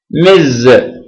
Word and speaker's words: Ms: s it is pronounced Miz Miz okay your attention s is pronounced Z Miz Miz so it